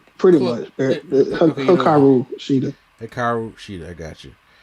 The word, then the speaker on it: Hikaru Shida: I think her next opponent will probably be Serena Deeb after she's done with her Hikaru Shida. Did I say it right? Pretty much. Hikaru Shida.